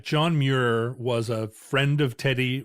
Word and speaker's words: Muir: John Muir. It's probably some Scottish sound that like didn't quite cross the Atlantic right. Yeah, you want to say like if your name is Muir, just spell it M-U-R-E.